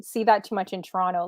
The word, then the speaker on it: Toronto: Like we never pronounce the last T.